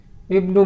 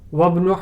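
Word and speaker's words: ابن: Ibnu Muhammadin fil Iraq wabnu Hamidin fil Hind. See the difference. At the beginning it is pronounced, whereas in the middle it is not pronounced.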